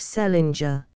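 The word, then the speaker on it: St. Leger: married an Irish ishman of the name of Selinger which was the usual way of pronouncing the name of Saint Leeder or as they spelled it send Ledger restored by later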